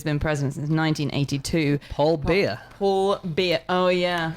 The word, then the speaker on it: Biya: president of Cameroon, Paul Biya, who's been president since 1982. Paul Biya. Paul Biya. Oh, yeah. I've only just realised what it sounds like. For a beer. It's not spelled like that. It's B-I-Y-A.